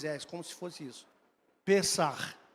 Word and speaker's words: Pesach: Que nem Pesach. Tem som de 2 R's no final. É um CH, mas a pronúncia é com 2 R's, como se fosse isso. Pesach, Sameach.